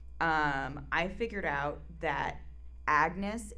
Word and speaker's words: Agnes: So first of all um I figured out that Agnes is supposed to be pronounced like Anus.